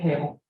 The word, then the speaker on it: Kahl: And she does pronounce it Kale.